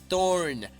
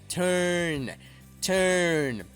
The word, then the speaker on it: turn: on to turn on aquí no es una o tan fuerte no es turnor Okay sino es haz tu boca como una O y pronuncia una e turn turn Okay es un sonido mixto entre o y e to turn excelente y